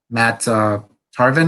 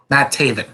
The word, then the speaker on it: Taven: teaming up with uh mata tarvin i think that's his name keep forgetting how to say his name matt taven sorry matt taven the kingdom